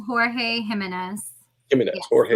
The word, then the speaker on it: Jimenez: Although I hear a lot of people call him George Jimenez. So see, Jimenez. Yeah, to me, it's spelled Jorge Jimenez. It's Jimenez. Like, at least that's what my friends would say, or Ed would say. It's Jimenez. Jimenez. Pronounced like that.